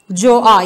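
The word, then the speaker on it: Gjøa: with his own ship जोआ। यहाँ पे बच्चों जी साइलेंट है, हम इसकी प्रोनाउंसिएशन जोआ होगी, इसको जोआ ही पढ़ेंगे।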